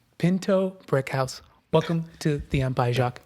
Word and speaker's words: Pinto-Brickhouse: do you say your last name again uh Pinto Brick House Pinto Brick House welcome to the empai Jac thanks for having